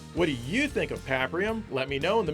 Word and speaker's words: Paprium: And yes, I know it's pronounced Paprium, like pap smear, but this game sells for $130, which is a premium price.